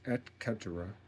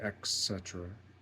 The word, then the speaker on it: et cetera: It's et cetera, etc. But a lot of people say etc. They put the C before the T in pronunciation.